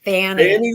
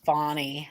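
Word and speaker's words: Fani: name fonnie it's Fanny Fanny Willis it's spelled Fanny Fanny pronounced fonnie well she just doesn't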